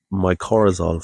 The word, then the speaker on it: mycorrhizal: So, I believe it's pronounced mycorrhizal fungi.